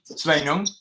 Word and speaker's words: Sveinung: How do you pronounce that in English? Sveinung.